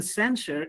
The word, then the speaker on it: censure: But you see, in censure, it is not j sound, it is sure.